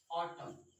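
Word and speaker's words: autumn: तो जब जब एम के बाद एन आता है तो उस स्थिति में जो हमारा कौन है, एन है, वो क्या होता है, साइलेंट।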